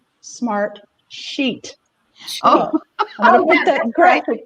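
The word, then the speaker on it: Smartsheet: name of the company i kept saying smart street but it's actually smart sheet i don't put that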